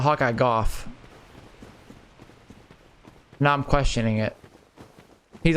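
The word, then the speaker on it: Hawkeye Gough: I'm pretty sure it's Hawkeye Go, not Hawkeye Goff.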